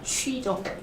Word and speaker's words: 去: 요거는 가다가 취죠. 취. 네, 요건 추 발음이에요. 저 나올 출자를 이렇게 써요. 그래서 취와 추만 구분 잘해주시면 좋아요. 去 다시 한 번 더. 사성으로 한번 해볼게요. 취, 去 추, 出 그렇죠. 명확하게 다른 단어죠. 그렇죠. 취 이게 취하다의 취로 가셔야 돼요. 취. 왜냐면은 이게 또 따로 있으니까 치가 따로 있으니까 취, 추 발음 시작.